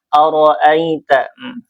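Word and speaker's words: أرأيت: Yang pertama di ayat pertama ini ada aroita ro di sini ee hukumnya tafkhim ya, dibaca tebal ee seakan-akan semua suara dan udara itu ee apa namanya terjebak di mulut kita ya. Ro ro ya ao. Jadi suaranya terdengar tebal ya.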